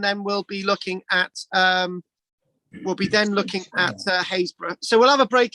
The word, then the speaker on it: Happisburgh: How can something that's spelt Happisburgh be pronounced Haysborough? It's nothing like it, is it?